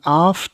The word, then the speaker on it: aft: of the for and AF is that how you pronounce it for and AF I'm not British uh AF okay well but it would be British it would be four and off off okay I thought so